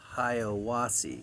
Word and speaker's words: Hiwassee: I think it's pronounced Hiwassee. It's spelled Hiwassee.